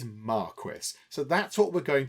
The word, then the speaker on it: marquis: And in the UK, the British pronunciation of this is Marquis.